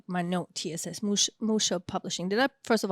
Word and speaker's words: Musha: Then, I have a question here or like my note TSS Musha publishing. Did I first of all pronounce it correctly? Yeah, yeah, Musha.